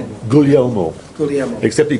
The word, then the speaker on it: Guglielmo: Guglielmo. Say it? Guglielmo.